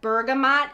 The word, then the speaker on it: Bergamot: have no idea what Bergamot is if you do let me know I think it's a spice so good I think oh yeah I think it's pronounced Bergamo and it's a spice if you've not tried